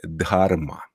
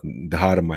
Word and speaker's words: Dharma: TH i tak dalej nie jest to ten dźwięk Jak w angielskim tutaj bardziej chodzi o to że mamy dźwięk d k i tak dalej